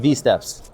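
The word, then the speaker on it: WSteps: us you'll be able to find more information there pronounced veps veps if if you'd like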